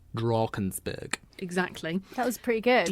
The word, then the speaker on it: Drakensberg: It's spelled like Drakensberg, but in South Africa, all A's are sort of pronounced like R. So anything where you see an A, you definitely have to say R. Drakensberg.